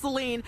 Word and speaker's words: Saline: They're hoping for a pause, and I want to apologize because I know it's pronounced Saline, but yes, the residents here in Saline, they